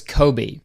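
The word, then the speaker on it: Coby: Okay, so the episode starts with a nice introduction to the CEO of Hooters America, and his name is Kobe, and it's spelled C O B Y, and that's how my grandparents spelled their old cat's name.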